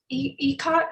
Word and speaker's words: ikat: While they do, I actually have a question for Hillary about a certain, so you said the ikat, am I pronouncing that correctly?